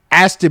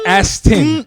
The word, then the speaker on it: Aston: First off, say it right. It's Aston. It's Ashton. Oh, It's not Ashton Kutcher. It's Aston, bro. What are you talking about?